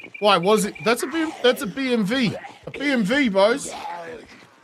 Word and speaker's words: BMW: That's a BMV. A BMV, boys. Right, because it's actually pronounced V or whatever, not W. Because they don't have a W or whatever.